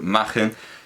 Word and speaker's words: Machen: está el secreto efectivamente arthur margen lo pronunció así porque sé que hay mucha gente que pronuncia nation pronuncia me dicen y el apellido me dicen actual y cotidiano pero es que más forma gen es galés y el pronuncia su propio apellido en galés sé que se pronuncia igual que en alemán pero no es un apellido alemán es un apellido galés y se pronuncia imagen